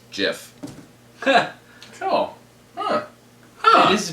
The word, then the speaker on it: GIF: behind him and peanut butter that says it's pronounced Jeff cool huh it is Jeff mhm I think I always did say GIF